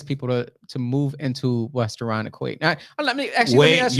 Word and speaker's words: Irondequoit: How are you going to entice people to move into West Irondequoit? Now, let me ask you can't. Well, hold on. See, you just literally messed up. So you said West Irondequoit.